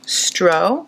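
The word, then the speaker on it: Strå: it's knit in wolfkolk stro. That's what it was intended for. S t r a. The a has that little circle over it. So I think you pronounce it as an o.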